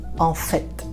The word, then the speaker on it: en fait: I know this one has a letter T at the end and you pronounce it. Okay, I know in the verb to do, faire, you say il fait. Il fait, you don't pronounce the T. But when you say en fait, it's written the same, but it's not, it doesn't sound the same.